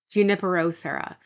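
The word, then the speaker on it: Junípero Serra: Junipero Sarah.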